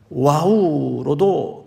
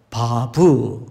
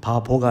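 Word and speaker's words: ו: 그 다음에 중간에 저 자음은 와우로도 이렇게 발음을 하고 바브, 바보가 아니고 바브로도 발음을 하는데 뭐 같은 표현이에요.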